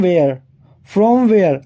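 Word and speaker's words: where: देखो, जब मैं वेयर बोल रहा हूं, यहां पर एच साइलेंट रह रहा है मेरे साथ। देखो, वेयर, नॉट वेयर, वेयर नहीं होता, ये वेयर होता है। यहाँ पर एच साइलेंट होता है।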